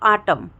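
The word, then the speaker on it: autumn: जाएगा ठीक है दोस्तों तो आटम देखिए एम के बाद एन का यूज हुआ है लिखा हुआ है लेकिन हम उसको प्रोनाउंस नहीं कर रहे हैं ठीक है जैसे कि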